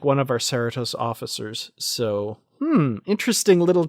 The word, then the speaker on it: Cerritos: has to say so I'm just gonna correct you on Sarah toss I wouldn't know how to pronounce this except for the fact that my company and maybe that's the correct pronunciation for the show I don't know but my company years ago I used to work at we had an operation in Cerritos California oh thank you okay